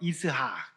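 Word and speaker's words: יצחק: 아내 사라는 웃다라는 뜻의 히브리어 이스학. 이삭이 이제 히브리어 원래 발음은 이스학이에요.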